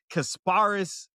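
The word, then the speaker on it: Kasparas: The last dude, I don't even know how to pronounce his name. I got it. It's Kasparis They said he good though.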